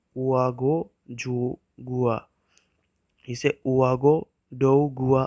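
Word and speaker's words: Ouagadougou: सो Burkina Faso जो country है उसकी कैपिटल का नाम है उआगो जुगुआ, इसे उआगो डोगुआ प्रोनाउंस किया जाता है। इसकी कैपिटल को ओआगो डोगुआ प्रोनाउंस किया जाता है, और जो वहाँ की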